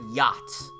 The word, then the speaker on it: yacht: and seeing the word yachts and not just giving the up like no it's yacht like the ch is silent the